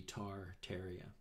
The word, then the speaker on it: Tartaria: you to look tateria t-a-r-t-a-r-i-a i understand you pronounce it not tartaria but it's looks like it would be tar terria anyway begin to look